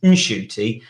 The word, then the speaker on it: Ncuti: silent after all and his name actually is inshoy and apparently it's because his mom's told him so his mom's told him